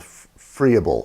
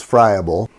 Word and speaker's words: friable: ought to cover as a term called Froebel or friable I've heard it pronounced both ways the the proper way is friable the term basically means